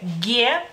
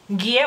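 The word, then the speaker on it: gė: En lituano se dice GIE. GIE, bueno, el nombre, digamos que de la consonante es GIE, así como en español es G.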